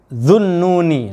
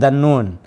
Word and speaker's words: Dhunnuni: Fasa'alahu, maka lalu bertanya kepada laki-laki ini, siapa Dhunnuni. Nah ini bacanya yang ini keliru, bukan Dhannun. Tertulisnya Sobat Ngariksa di manuskrip ini Dhannun, tapi ini sebagai fa'il. Kalau sebagai fa'il harus marfu. Asmaul khamsah ini ciri marfu'nya dengan waw, Dhunnuni bacanya. Fasa'ala, maka lalu bertanya kepada